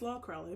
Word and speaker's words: Lol Crawley: person's name is pronounced is spelled l o Crawley remember I said like I don't know if it's is it LOL Crawley is it LOL Crawley is it apparently it's l Crawley because it's Joe alwin